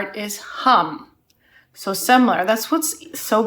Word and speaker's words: Hum: okay last part is super easy it's just hum from hum okay let's practice together hum